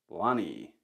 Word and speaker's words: Lønny: How do you actually pronounce this? Lonny.